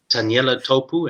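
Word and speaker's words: Taniela Tupou: I used to, when he was still at school and I was still living in South Africa, I watched clips of Taniela Topu.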